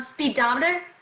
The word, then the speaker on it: speedometer: um speedometer oh yeah that one we would stress the dom so we go one to the left of meter and we get speedometer like we don't even really say speed it's just speedometer lots of on but not so much speed i see speedometer yes